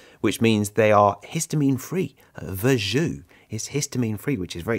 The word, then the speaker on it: Verjus: It's called Verjus. I know, it's spelt Verjus, V-E-R-J-U-S, Verjus.